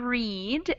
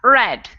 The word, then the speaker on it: read: right i guess yeah exactly so in the first one in the present tense we have a long e sound read and in the second one we have a short e sound red which totally makes no